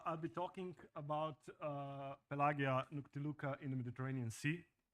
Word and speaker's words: pelagia: the Mediterranean Sea and if your ears hurt when I say pelagia I got really confused about the pronunciation A few days ago so I went to the Fountain of wisdom called Google and checked how it's properly pronounced and actually pelagia would be how the ancient Romans would pronounce it so